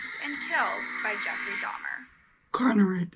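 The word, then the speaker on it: Konerak: Conrad, that's how you say his name.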